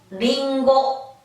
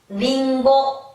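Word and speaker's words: りんご: 자, 리, 고, 가기국의 고, 가기국의 고, 리, 고, 링고, 링고, 링고.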